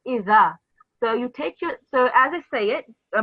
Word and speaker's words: إذا: So the way you pronounce this is not like iza, it's iza.